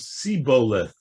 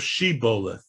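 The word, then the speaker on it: shibboleth: by the fact that they could not pronounce shiboleth i think it was a name actually the area over here but they couldn't pronounce the shin what they would say was the way they would read hebrew was siboleth instead of shebolith so that's how they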